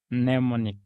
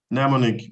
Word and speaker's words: mnemonic: almonds and of course letter M we mentioned one word okay and that and that was what mnemonic mnemonic very good thank you